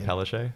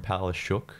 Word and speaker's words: Palaszczuk: I think she actually changed it from Palaszczuk to Palaszczuk because she lives in Queensland. She wants the Bovins to pronounce it. Palaszczuk. I'm not even kidding. Because you look at the spelling of it, it's Palaszczuk. It is. And the traditional pronunciation is Palaszczuk. Everyone else who goes by Palaszczuk is Palaszczuk. But for her, it's Palaszczuk because it's too difficult for Queenslanders.